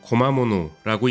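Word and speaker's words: 小間物: 소간물이라는 한자가 보이기 시작하는데요 일본어로 구마모노라고 읽는 소감물은 잡화 일용품 가게를 의미합니다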